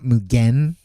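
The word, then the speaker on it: 無限: mugen is that like mugan is technically three syllables the way the Japanese pronounce it. Like for us for us westerners like we just combine the n but the n is part of the syllable is m not not mugen.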